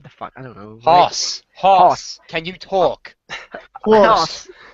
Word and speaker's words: Haas: I thought it was HASS this whole time.